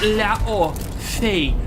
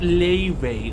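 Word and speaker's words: Laufey: God of War's Laupe is pronounced Lao-Fei, not Lei-Wei, like the musical artist.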